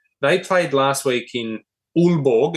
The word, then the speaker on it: Aalborg: They played last week in Aalborg, it's pronounced, in Denmark.